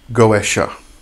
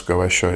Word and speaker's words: Goetia: so um the word goesa as we pronounce it in s in in such a manner is actually the American pronunciation of the word and I do prefer